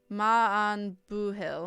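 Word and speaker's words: maith an buachaill: The pronunciation is Ma an Buhil.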